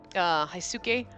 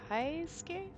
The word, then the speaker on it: Heisuke: heisuke that's rich yeah hey Sookie or it could be a ski high ski because sometimes you don't pronounce that you in the suit it's high ski it's probably high scale where you are to